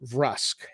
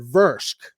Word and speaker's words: Vrusk: in a recent video i mispronounced rusk and i said versk and um i agree